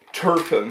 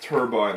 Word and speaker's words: turbine: pronounce it differently I I always thought was pronounced turbine like combine some people pronounce it